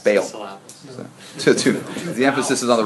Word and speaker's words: Baal: I always thought of it as ball. Bale. It's got two A's in it, right? Yeah, so you want to say it's like a bay, ale.